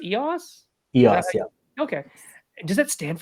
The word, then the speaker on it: Eos: And if you want to find EOS Project EOS Rise, EOS, is it pronounced EOS? EOS.